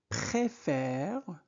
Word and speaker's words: préfère: Je préfère Je préfère. Donc e accent aigu se prononce et e accent grave se prononce et donc je préfère